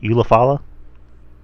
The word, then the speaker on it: Ulafala: Ulafala. Yes. My Ulafala.